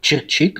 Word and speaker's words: Чирчик: правильно рассказал только корректировка город Чирчик на последний слог ударения переехал Я в Татарстан